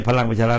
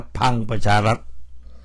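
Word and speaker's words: พลังประชารัฐ: ของ บัญชี ราย ชื่อ พรรค พัง ประชารัฐ ไม่ ใช่ พลัง ประชารัฐ นะ พัง ประชารัฐ หัว หน้า พรรค และ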